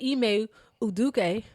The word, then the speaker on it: Udoka: guess he felt that e uduk yeah that's a good pronunciation correct very correct okay um he uh